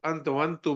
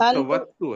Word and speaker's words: अन्तवत्तु: एक तो आपने अंतवंतु बोला, ये अंतवंतु नहीं है, अंत अंतवत्तु है।